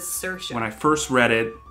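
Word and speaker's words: Saoirse: i love her sirisha she says it's uh cersei that just depends on like regions i would say searsha but she says cersei when i first read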